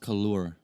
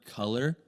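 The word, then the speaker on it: Couleur: dude it's it's pronounced kaloor it's it's french for it's french for the word color okay but um i've heard everything in the book i've heard color uh i've heard like collier yeah bro i don't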